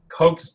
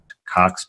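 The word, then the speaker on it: Koch: they have not fulfilled something called coke's pastured which is by the way the correct way of pronouncing it but i prefer cox postulates and i prefer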